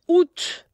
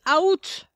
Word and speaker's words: août: Août. Août, le mois d'août. But the problem is they want to say out. There's no, well, pretend the A isn't there. Say août, le mois d'août.